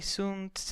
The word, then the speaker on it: Sunce: You can practice your pronunciation with this as well, because like you heard, I said Sunce and Sunce, and it's supposed to be Sunce or something like that. Sunce.